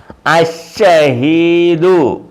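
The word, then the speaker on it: الشهيد: ഷഹീദുൻ ഷഹീദുൻ അശ ഉണ്ട, ലാമിന് ഉച്ചാരണമില്ല. അഷഹീദു ഷഹീദുൻ അഷഹീദു.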